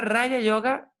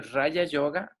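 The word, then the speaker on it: raja yoga: Entonces, Raya, recuérdense, la J pronuncia como una Y, y la palabra Raya Yoga se presta a confusión,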